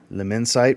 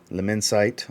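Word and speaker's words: L'Immensité: with their version of lemon site leminsite i believe is how you say it from louis vuitton this is lumensity this is the 100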